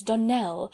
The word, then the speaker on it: Donnell: morning connected with the donald children clarice almira told me that you pronounced our name donal now miss surely the correct pronunciation of our name is donnell accent on the last syllable i hope you'll remember